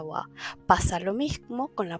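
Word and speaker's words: は: ejemplo la partícula Wa cuando es partícula que ya sabemos que no utilizamos el va de doble sino que se utiliza el Ja pero cuando se vuelve partícula se pronuncia Wa pasa lo mismo con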